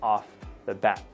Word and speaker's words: off the bat: Now, notice when you say it quickly, the T almost sounds like it gets cut.